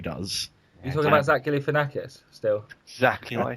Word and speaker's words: Galifianakis: you pronounce his surname? Galifianakis.